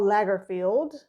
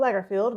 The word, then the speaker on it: Lagerfeld: So the theme is Karl Lagerfeld. Did I say it wrong? I thought it was Lay, not La. I thought it was Lay. I thought it was Lagerfeld.